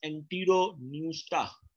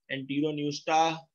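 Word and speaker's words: Enteropneusta: First is the class एंटीरोन्यूस्टा, P silent है, इसको आपने पढ़ना है, class एंटीरोन्यूस्टा। Second is the class टीरोब्रैंकिया, P silent, टीरोब्रैंकिया। Third is the class प्लैंक्टोस्फीरोइडिया, class प्लैंक्टोस्फीरोइडिया। Three classes, एंटीरोन्यूस्टा, टीरोब्रैंकिया and third is द प्लैंक्टोस्फीरोइडिया।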